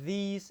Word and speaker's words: these: Sama seperti these and that, itu bukan D tapi lidahnya digigit semua. Coba Mbak Mif. That. Though. Bagus itu. These. Ya, lidahnya digigit tapi keluar udara.